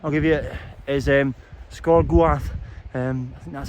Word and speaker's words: Sgor Goaith: at the name I'll give you is um scor gu um that's how it's pronounced anyway um I think it's the Windy